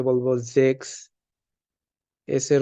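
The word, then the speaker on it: sechs: সিক্স বা ছয় যেটাকে আমরা ডেস এ বলবো জেক্স এস এর উচ্চারণ আমরা আলফাবেটে পড়ছি যে এস থাকলে এস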